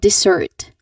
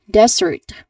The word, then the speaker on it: dessert: So people common mistake that people do uh they say it as desert like desert.